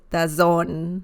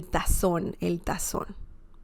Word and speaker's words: tazón: By the way, the Z sound in Spanish is very similar to the S sound in English, okay? So you wouldn't say el tazón, right?